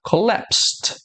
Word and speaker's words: collapsed: nós temos esse sonzinho do T no final. Então, esse verbo aqui vai ficar collapsed, collapsed.